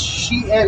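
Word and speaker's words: Shein: I didn't even know how to pronounce it. It's Shien.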